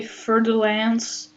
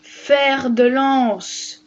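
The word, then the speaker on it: fer-de-lance: Death Adder Gaboon viper did you just say fertil Lance Mister it's pronounced fa delance Russell's Viper S scale Viper and a lot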